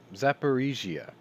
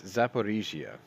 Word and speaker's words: Zaporizhzhia: Sorry, I always get this name wrong. It's Zaporizhzhia. There it is. I put an extra I in there for like the last 50-something episodes. It's Zaporizhzhia.